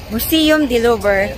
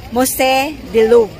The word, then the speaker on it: Musée du Louvre: Nandito na po tayo sa bahay ni Ninang Mona Lisa sa Museum du Louvre, or mas tawag nila dito na Musée du Louvre. Musée Louvre. Ganun pala yung pronunciation nila dito sa museum na to.